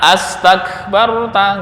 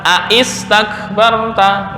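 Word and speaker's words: أستكبرت: Maka membacanya adalah astakbarta, nggak boleh dibaca aistakbarta, nggak. Nah, kenapa? Ini hamzahnya hamzah wasal. Ketika di tengah nggak terbaca.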